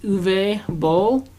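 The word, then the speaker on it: Uwe Boll: remarkable movie by mystery I believe it's called pronounced uve Bowl you know me and you went to go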